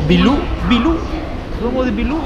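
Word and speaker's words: 秘鲁: O sea, Perú en chino se pronuncia algo así como Bilú.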